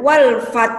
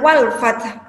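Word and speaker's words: والفتح: dan haknya juga diperjelas hati-hati ketika membaca Hai wolfhard kadang kalian atau kita membacanya terjun terdengar walfat atau mungkin hilang huruf haknya tanpa huruf ha ha Hai itu termasuk bacaan yang eh salah ya karena menghilangkan satu huruf Hai kalian membacanya mungkin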